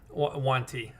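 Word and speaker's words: yuan-ti: take you that's okay I pronounce it like a one yeah on that's fine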